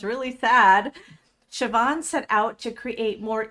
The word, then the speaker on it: Siobhan: She has a lovely Irish name, and let me just give you a few words about Siobhan.